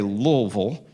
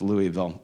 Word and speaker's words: Louisville: Seminary in Louisville, Kentucky, the locals say Louisville, but I'm with Dr. Mohler that says it's not named after King Lowell, it's named after King Louis, right? So it's Louisville.